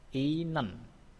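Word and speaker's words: 있는: Ini adalah isnen. Isnen. Bacanya adalah inen. Inen ya, ini bacanya inen.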